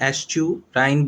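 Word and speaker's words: estuarine: यहाँ पे ई भी साइलेंट है, ए भी साइलेंट है, ध्यान रखना है। एस्टुराइन बोला जाता है इसको, ई भी साइलेंट है, ए भी साइलेंट है, एस्टुराइन इकोसिस्टम।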